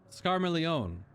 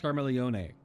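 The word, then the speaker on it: Scarmiglione: was the element of scar milione it's karma Leone gotta pronounce the e as clearly there's like a water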